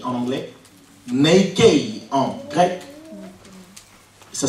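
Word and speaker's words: νίκη: foi le mot victoire c'est nique ou Nike en anglais Nike en grec ça s'écrit simplement n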